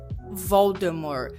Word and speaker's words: Voldemort: Fun fact, some Brits pronounce it without the T at the end, Voldemort, just like the author originally intended.